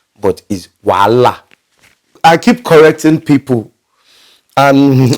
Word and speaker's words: Wahala: in the not on the spelling and the pronunciation to people they address it as wahala but is voila i keep correcting people and at the point